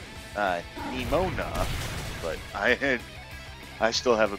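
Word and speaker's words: Nemona: Yeah, I have a bit of trouble pronouncing her name, too. It's Nimona, but I still have a bit of a problem with her.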